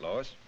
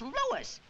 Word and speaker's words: Louis: story at the plant Lois Lois my name is Lewis not Lois Chief whiz everybody in toy believes me name wrong it's Louis l o u i s Lois Louise Lucy now